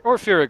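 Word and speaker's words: Pyrrhic: That is that is like the definition of a Fyric victory, or Fyric victory if you prefer to pronounce it as such.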